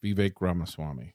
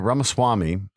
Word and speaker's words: Ramaswamy: Vivek Ramaswamy. Yeah, Ramaswamy. It's Vivek. I think it's actually Vivek. It is Vivek. So it rhymes with cake.